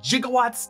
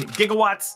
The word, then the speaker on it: gigawatts: sebek gets consulted with one expert who apparently pronounced it gigawatts despite the correct pronunciation being gigawatts but it's a thing about Back to the